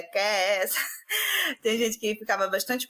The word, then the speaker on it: Kees: De Kes. E aí, tanto que nisso, muita gente queria chamar de Kiss, né? Lembrando a palavra em inglês beijo, mas a gente, não é Kiss, que se pronuncia, é Kes.